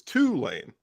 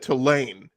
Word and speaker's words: Tulane: In New Orleans, we put the emphasis on the first part, so it's Tulane. You said Tulane, and that's very northern of you.